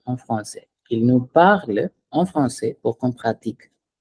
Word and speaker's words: parlent: So parle, mais we delete the NT and pronounce it. Ils nous parlent. It's not parlons en français. Ils nous parlent en français pour qu'on pratique.